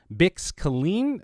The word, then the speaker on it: Bix Caleen: I also talked to Adria Arjona, who's playing a new character, Bix Caleen, I believe is how you pronounce it, That's right.